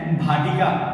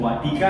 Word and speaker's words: वाटिका: हैं, उसका नाम है भाटिका। भाटिका नहीं सर, वाटिका है। इसका मतलब ये है कि हम ही का उच्चारण व से करेंगे, भ से नहीं करेंगे, जिसकी वजह से हम